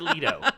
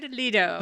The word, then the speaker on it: Leto: Joker cuz no one only hate pronouncing names correctly it's Jared Leto leader who would like when